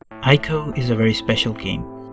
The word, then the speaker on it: ICO: ICO or ICO, depending upon whatever you want to call it, though the actual pronunciation is ICO rather than ICO.